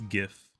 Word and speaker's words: GIF: It's pronounced GIF. No, I don't care, okay? It's GIF. GIF. The G means graphic. It's not giraffic, graphic.